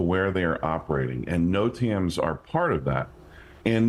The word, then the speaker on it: NOTAM: And yes, you are pronouncing it correctly. It's called a NOTAM.